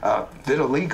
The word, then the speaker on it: vitiligo: I still can't pronounce it. Vitiligo or...